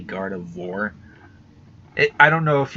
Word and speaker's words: Gardevoir: the four part I think I used to pronounce it like Gardevoir but now I say Gardevoir it I don't know if you couldn't even